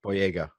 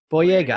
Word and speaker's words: Boyega: Boy how do you say his last name boy Yaga boy Yaga how do you feel about him with his